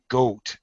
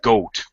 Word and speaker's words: goat: ER straw sorry okay first of all a goat it's an it's a long o o goat goat yeah there you go just like post post same sound same foul sound all right but I